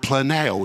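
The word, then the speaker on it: πλανάω: and this word deceived is the Greek word Plano if you're taking notes in your students so you should you would spell it p-l-a-n-a-o the Greek word Plano this word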